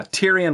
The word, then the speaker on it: Tyrion: And of course, it is, I always say it wrong, but I think it's Tyrion, right? Lannister? Yeah, Tyrion Lannister. Yeah, Tyrion. Which is actually the imp from Game of Thrones right there.